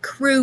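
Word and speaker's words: Kru: and in this passage i talk about crew men and that's spelled k-r-u the crew were one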